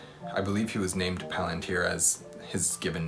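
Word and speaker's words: palantír: plant here palantir stuff i think it's palantir is the correct pronunciation anyways so i didn't love any other palantir stuff i just said it wrong it plantier stuff but as an as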